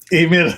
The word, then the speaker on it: Ximena: pronounce her name correctly ximena ximena thank you because it starts with an x and in english we don't have too many words that start with the next x-ray or something like